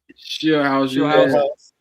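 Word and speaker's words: Scheelhaase: Skill House. It's a crazy spell that.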